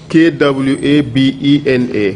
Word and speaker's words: Kwabena: K-W-A-B-E-N-A.